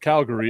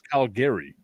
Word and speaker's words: Calgary: Canada and then I found out it's not pronounced Calgary it's Calgary yeah well I Canada well well so I